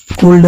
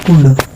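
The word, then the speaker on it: could: L silent होता है इसमें भी एल साइलेंट होता है, ये शुड है। वुड, शुड, कैन, कुल्ड नहीं कुड, may, might, must, need, ought to, यूज टू, etc और भी है, ठीक है।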